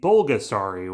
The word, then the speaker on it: Bulgasari: with a P for Pulgasari, but how they pronounce it for the film and its inspiration should be bulgasari with a B, which means the impossible